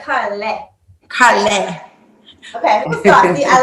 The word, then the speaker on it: Karlae: We're gonna make sure we say yes, like a car in a lane. a little bit saucy, like Karlae. Karlae.